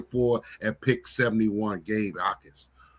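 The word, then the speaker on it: Jacas: Ais the J is silent.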